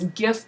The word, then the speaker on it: GIF: this animated gif now you'll hear people pronounce GIF two ways you'll hear it gif and you'll also hear GIF they're both just fine so there's mine now